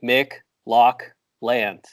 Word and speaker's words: McLaughlin: like a sound like if McDonald's made lox then it would be Mick Loch land thank you because you